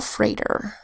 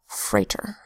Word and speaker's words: freighter: that says a and e IG H today's phonogram to make a long a sound a T that says and an e are develop diphthong that says uh the freighter by Leroy F Jackson